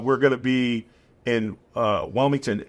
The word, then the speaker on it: Wilmington: But do you mean Wellington or Wilmington? Wilmington. I say it wrong because I just paid to have the horses moved, so it's a little traumatic for me.